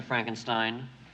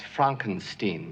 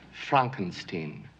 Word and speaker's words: Frankenstein: the left hand I have one question Dr Frankenstein that's Frankenstein Frankenstein my name it's pronounced Frankenstein but aren't you the grandson of the famous